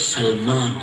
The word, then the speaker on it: سلمان: علمی کی وجہ سے صحیح تلفظ نہیں کرتے. صحیح تلفظ سلمان ہے، سلمان، سین پہ زبر، سلمان.